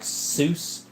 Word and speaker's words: Sous: His name is Sous. It's pronounced like Seuss.